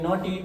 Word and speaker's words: naughty: NAUGHTY, इसको क्या बोलेंगे? नॉटी।